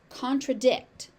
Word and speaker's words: contradict: Contradict. Contradict. contradict. You will hear the the T on the end of this word pronounced.